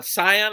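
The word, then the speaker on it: Cyon: one we got uh scion i think it's it's how you pronounce it c-y-o-n and this is the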